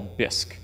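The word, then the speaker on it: BISC: this that I call bisque just because it rhymes with risk and Sisk and I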